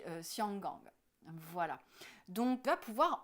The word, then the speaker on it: Xianggang: en européen, et puis Hong Kong qui ne s'appelle pas du tout Hong Kong non plus, qui s'appelle le port au parfum, qui se dit Xianggang.